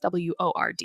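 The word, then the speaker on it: Wyrd: And word is spelled W-Y-R-D, but it's pronounced W-O-R-D. It's pronounced like word.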